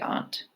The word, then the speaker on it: aunt: It's interesting because I think that's more of a dialect thing, because in the North, I think we mostly say aunt, but really the correct way to say it would be aunt.